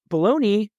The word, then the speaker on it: bologna: with the logo but baloney and balone it's like it's not pronounced the way it's spelled number one baloney that